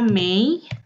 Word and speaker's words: mig: Terus ada juga May ya, tulisannya May. Tulisannya mig, dibacanya May ya.